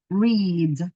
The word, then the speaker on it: read: Cuando esté presente lo digo con I, read, ¿sí? Es una I larga, símbolo de fonética sería así.